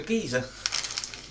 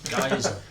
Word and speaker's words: geyser: Oh, look, a geezer. Geyser.